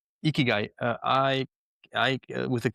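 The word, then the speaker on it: ikigai: not the only one and it's called the eeky guy and ikyu is a very simple framework and it's in those simplicities. Can you spell that? Eeky guy.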